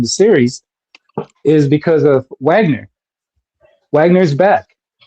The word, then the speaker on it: Wagner: series is because of Wagner. Wagner is back. Has really nothing to do with Pablo. It's pronounced Vagner.